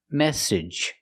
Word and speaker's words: message: This is the most common pronunciation of a two-cllable word with a ge at the end. Edge. Edge. It's a short sound. E plus the j like in juice. and jump edge message.